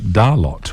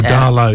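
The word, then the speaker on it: Darlot: uh Dalo is or Darlow it's not Darla you don't pronounced the tea it's a sort of a French pronunciation and it's it's out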